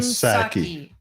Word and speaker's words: Psaki: The power shutdown, Jen Psaki. I think the P is silent.